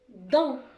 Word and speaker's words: dent: Une dent. Le T, c'est une lettre muette. On ne va pas la prononcer.